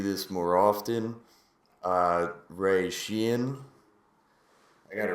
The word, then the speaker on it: Sheehan: Uh, Ray Sheen, I got it right this time, right?